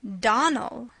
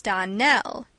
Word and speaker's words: Donnell: you pronounce our name Donnell now miss Shirley the correct pronunciation of our name is Donnell accent on the last syllable I hope you remember